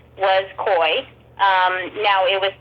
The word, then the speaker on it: Coye: up to me and he said my name is koi and I said oh okay not forcing my mind I'm going oh it's co-wide he goes no it's spelled exactly like yours and I was like